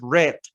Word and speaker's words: read: Por ejemplo, read es en presente y se escribe igual en pasado, pero la pronunciación es read.